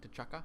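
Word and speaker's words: T'Chaka: father to chakra right that's how he pronounced his name to chukka yeah holla but in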